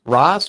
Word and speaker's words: Ras: How do you say is it Ras? Ross.